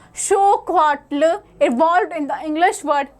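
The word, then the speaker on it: xocolatl: It was even enjoyed by the Aztec emperor Montezuma, and the Aztec word for it, chocolatl, pronounced as xocoatl, evolved in the English word chocolate.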